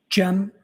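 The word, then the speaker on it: Cem: Jim.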